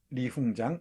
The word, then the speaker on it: 리홍장: 그리고 리홍장, 이홍장이라고 발음하는데요.